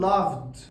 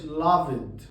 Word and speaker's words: loved: ما بقولش called غلط، ما بنطقش الاي اصلا. بقول closed، ما بقولش closed غلط، بقول loved، ما بقولش loved.